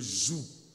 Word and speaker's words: joug: C'est pourquoi je prononce G, pour que vous compreniez que ce n'est pas la joue, c'est le joug.